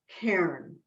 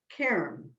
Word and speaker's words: cairn: is spelled c-a-i-r-n and it's pronounced with just one syllable karen i tell you that